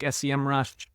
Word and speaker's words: Semrush: SEO tools things like sem Rush or semrush depending on how you pronounce it I've heard it both